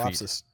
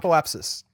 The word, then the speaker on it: apoapsis: I saw the P's in front of the first S, which is not how I say it. I don't think. Apoapsis.